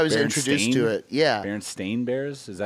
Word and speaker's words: Berenstain: Berenstain Bears. Is that how you're supposed to say it? No, you're supposed to say Berenstein because that's how the names are, but it's spelled Stain. It's spelled Stain out.